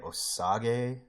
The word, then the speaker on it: Osage: It's literally O and then the word sage. So I want to say it's Osage.